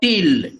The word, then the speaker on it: til: This is called til, T-I-L, til.